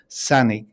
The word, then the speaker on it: Sanaig: It's actually pronounced Sanig to give it some kind of Gaelic attribute.